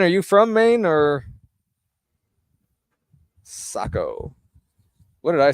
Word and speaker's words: Saco: Joanne says it's pronounced Saco. Again, Joanne, thank you so much for being here. Saco. Joanne, are you from Maine or Saco?